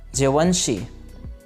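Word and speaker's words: Givenchy: आप इन वर्ड्स को मेरे पीछे पीछे प्रोनाउंस कीजिए ताकि आपकी प्रोनाउंसिएशन ठीक हो सके। डोल्चे गबाना। नेक्स्ट हमारे पास है जवंशी।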